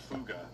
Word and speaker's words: Fugger: This guy, by the way, Yakob Fuga, his name is spelled Jacob Fugger.